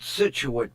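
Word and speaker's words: Scituate: It's not pronounced the way it's spelled. She said they pronounce it situate, but it looks like shuait or something.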